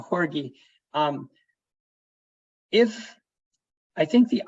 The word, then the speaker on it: Jorge: in-phase micro inverse um I think Jorge that I'm gonna or I think it's I've got your name wrong it's uh horgie um if I think